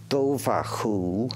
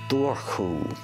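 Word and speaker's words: Dobhar-chú: You can pronounce it Dovar Cu or Dovar Cu.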